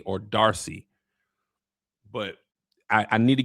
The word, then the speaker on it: D'Arcy: You you might as well go ahead and hand Emma Emma Is it Darcy? Okay, so the apostrophe is just there like how black people like apostrophes. It's just pronounced Darcy.